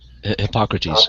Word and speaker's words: Hippocrates: What's my understanding that epilepsy was once believed to be exactly demon possession, and how do you pronounce his name? The inventor of the Hippocratic Oath, Hippocrates. Hippocrates.